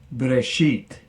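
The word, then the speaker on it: בְּרֵאשִׁית: genesis 1 1 breshit elohim 8 hashem the eighth is typically translated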